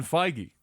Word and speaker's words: Feige: his name yep Wow that is the last pronunciation I would have guessed mmm for that name Kevin Feige there you go thank you has been contacting